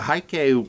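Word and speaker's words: Heike: Haiki, yeah. Yeah, Haiki. Long before I saw this movie, and growing up as, like, a little kid unfamiliar with any form of Japanese culture, the Haiki was well-known here in the house because me,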